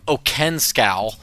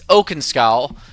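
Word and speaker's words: Oakenscowl: I don't know why I was pronouncing him Okenkow. It's Okenskow.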